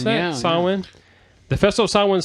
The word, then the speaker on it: Samhain: Is that how you pronounce Samhain, that? yeah. Samhain.